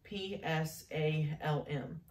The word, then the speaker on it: psalm: the psalm is spelled p-s-a-l-m but the first letter you do not you do you don't say which is why it is called psalm and then you'll look